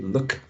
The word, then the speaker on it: look: and tense moon but when we say look we're actually using this um short and legs sound right look look moon moon very well done thank